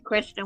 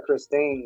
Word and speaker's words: Kristen: I call her Christine, but I pronounce it wrong. She knows what I I, mean. She don't hear. I think I pronounce it wrong too. But nobody, she's never corrected me, so I just call her Christine. Yeah. But I think it's actually Kristen. Yeah, it's Kristen.